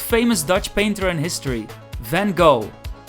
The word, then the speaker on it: Van Gogh: Speaking of paintings, let's go to the museum of the most famous Dutch painter in history, Van Gogh, which we pronounce in Dutch as Van Gogh.